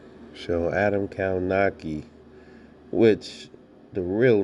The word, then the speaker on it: Kownacki: so adam kawanaki which the real name the real way to pronounce his name is actually adam kaunatsky but i like the